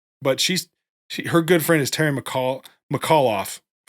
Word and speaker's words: Terry McAuliffe: It's Terry McAuliffe. You can see it in the spelling.